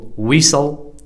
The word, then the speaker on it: whistle: Fetch, Stretch, Scratch, Hatch It is also silent in the following words. What are the words that are PTT silent? Whistle, listen, castle, often, Christmas, wrestle, fasten, mustn't, T is silent.